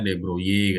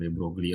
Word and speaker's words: de Broglie: Jadi si Mas De Broglie ini katanya bacanya De Broglie katanya ya, tapi saya bilang De Broglie aja lah.